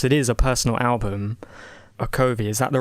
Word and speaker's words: Okovi: okay of course it is a personal album Arco V is that the right pronunciation mm-hmm yeah so a couple of themes